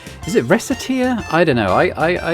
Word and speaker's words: Recettear: I I I pronounce it with the hard C. I I could be wrong on that, but that's how I've always said it. Rateer because it sounds like rakateeer.